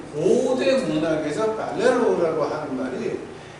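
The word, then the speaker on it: πληρόω: 헬라어에서 어떻게 나오냐고 그러면은 이걸 한국말로 발음을 쓰려면은 팔레로우가 되겠죠. 이제 이게 팔레로우라고 이제 이렇게 발음이 되겠어요.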